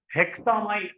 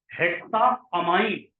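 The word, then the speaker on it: hexaammine: जैसे यहां पर आपने हेक्सा हेक्सा माइन ऐसे नहीं हेमान नहीं पढ़ेंगे हेक्सा अमाई हेक्सा अमाइका माइन नहीं गलत हो जाएगी स्पेलिंग इसलिए आप वहा पर थोड़ा अपने आप को रोक हेक्सा अमान ये पढ़ेंगे वैसे ही यहां पर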